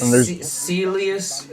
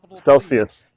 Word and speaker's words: Celsius: I signed up for that Celius. Is that how you say it? Celius wallet. Celsius.